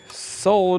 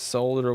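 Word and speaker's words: solder: to be nice and pronounced solar with the El that it doesn't belong there but if you say it belongs there it's okay wouldn't want to hurt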